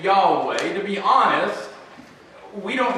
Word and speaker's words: Yahweh: sure how it's pronounced most scholars believe it's da way some pronounce it as Jehovah but for our sake